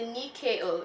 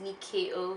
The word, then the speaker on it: Nyakio: so this is the Nikkei oh it's felt and why Aki oh but it's pronounced Nicki oh sweet our cleansing oil